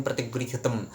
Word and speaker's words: प्रतिगृह्यतम: उच्चारण हो रहा है, पर वो अनुस्वर का उच्चारण नहीं है, वहाँ पर जो है म का ही उच्चारण हो रहा है, म का ही जो है वो उच्चारण वहाँ पर हो रहा है, प्रतिगृह्यतम प्रतिगृह्यतम।